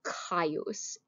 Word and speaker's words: Gaius: gaius is his prinomen gaius or kaios c and g were the same letter in latin in the middle ages